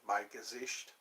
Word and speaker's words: Mein Gesicht: Mein Gesicht.